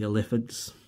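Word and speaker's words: Illithids: We got the mind flayers, the Eliphids.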